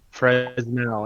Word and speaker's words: Fresnel: Fresnel No, it's pronunciation. Hold on. Fresnel. It's Fresnel.